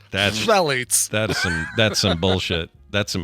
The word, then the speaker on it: Phthalates: Phthalates. PHTH. Phthalates.